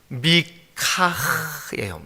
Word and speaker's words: 미가: 보겠습니다 거기 이제 미가라멘 그까 이제 그 원래 발음은 미카에 미카 미카 예 그래서 미 카 다음에 히읗까지만